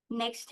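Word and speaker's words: knack: हमारा इंग्लिश में candour next है नेक के एन ए सी के नेक के यहां पे साइलेंट है नेचुरल एबिलिटी और टैलेंट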